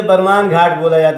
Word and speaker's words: बरमान: अच्छा, ब्रह्मा जी की वजह, वही तो बरमान समझ में नहीं, शुद्ध नाम इसका ब्रह्मांड घाट है जी। अंग्रेजी शासन में अंग्रेज लोग किसी चीज़ को, क्योंकि अंग्रेज लोग किसी चीज़ को शुद्ध तरीके से उच्चारण नहीं कर पाते थे जी जी। तो ब्रह्मांड घाट को ब्रह्मांड घाट ना कह के बरमान कहने लगे, तो बरमान नाम पड़ गया।